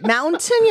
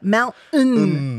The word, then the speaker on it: mountain: 그 mountain이 아니라 mountain 뭐 그리고 button도 yeah. 단추도 button 이렇게 발음하잖아요. Swallowed. 그런 소리들이 이렇게 목 뒷구멍 뭐 뒤쪽에서 나는 소리거든요.